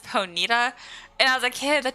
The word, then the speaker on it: Ponyta: And as a kid, I remember like Ponyta. It's actually pronounced Ponita, and as a kid, that just like blew my mind.